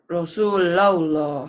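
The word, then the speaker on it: رسول الله: Kalau sebelum lafaz Allah baris di atas tuh, dibacanya jadi Tebal. gimana? Rasulullah.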